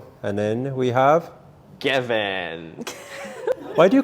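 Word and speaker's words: Gawin: it married you're married no it's not garmin everyone pronounced it wrongly actually no no you spelt it wrong what do you think you can't you can't see he's a g-a-w-i-n he says it's gavin garwin gavin gavin oh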